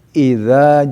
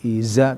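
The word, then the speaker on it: إذا: Idza ja ya ingat dza ya itu pengucapan makhrajnya harus digigit ya. Idza ya bukan i izza tapi idza ya setiap dza harus digigit makhrajnya ya.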